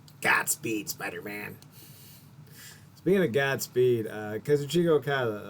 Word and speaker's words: Kazuchika Okada: Speaking of Godspeed, Kazuchika Okada, or Kazuka Okada. I think we've been mispronouncing it. I see an I. Kazuchika. That's how I'm pronouncing it.